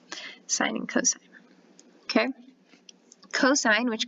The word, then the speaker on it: sine: sine of a okay even though it's written sin you guys it's pronounced sine sine and cosine okay cosine